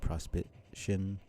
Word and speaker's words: Prospitian: So I guess in that sense, Prospidian would be Prospitian.